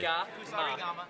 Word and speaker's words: Kusarigama: the Actually, pronunciation of pronunciation Kusarigama, every single syllable. or as we called it in Australia, Special K. Kusarigama.